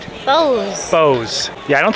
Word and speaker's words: Bowes: to make sure I'm saying it right Foose Bose yeah I don't spell any cigar smell right